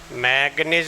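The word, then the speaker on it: manganese: तो डोडेका carbonyl, ligand कौन सा है, कार्बोनिल, मैग्नीज बोलते हैं, स्पेलिंग में मैंगनीज लिखते हैं, ये ध्यान रखना।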